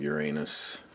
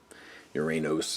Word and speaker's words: Uranos: TFC 008 Wings of Uranus. Uranos, I guess you want to overpronounce the O on this unit.